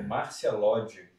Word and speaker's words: Márcia Lodge: Só uma correção aqui que eu pronunciei o nome da nossa amiga errada. É Márcia Lodge.